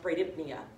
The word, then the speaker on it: bradypnea: it hypo ventilation or the very technical term is brady for slow and then pnea which represents breathing which is pronounced bradypnea you guys don't need